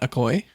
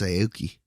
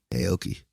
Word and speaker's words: Aoki: I can't say her name. Devon Akoy. She's right here. But yeah. No, it's Aoki. Aoki. Like Steve Aoki.